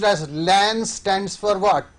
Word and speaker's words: LAN: fourth question for you el a and commonly pronounced as LAN stands for what its local area network this